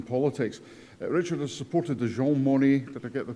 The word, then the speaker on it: Jean Monnet: Richard has supported the Jean Monnet, did I get the pronunciation right?